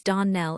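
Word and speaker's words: Donnell: The name is Darn Nell and always has been.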